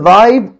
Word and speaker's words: live: বানানে কিন্তু উচ্চারণ দুই রকম হবে। পরের সেন্টেন্সে আসা যাক, I mean লাইভ on Facebook.